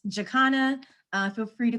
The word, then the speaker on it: Jaconna: we are um so the pronunciation of my name in case you're curious it's jakana feel free to call